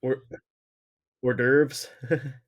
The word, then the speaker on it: hors d'oeuvres: Hors d'oeuvres. Yes. Or hors d'oeuvre, for example. We never pronounce the S's.